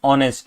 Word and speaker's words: honest: Okay because uh because you know although the word is h but the pronunciation is honest which is o right.